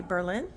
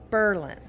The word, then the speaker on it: Berlin: Route 62 Berlin Ohio sometimes people say Berlin then you know that they're not from here it is Berlin the accent is on the first part of that word this is oh you